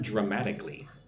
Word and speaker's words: dramatically: Look at the word dramatically. Dramatic. Four syllables. Drama. Put the emphasis on the second syllable one two m dramatically.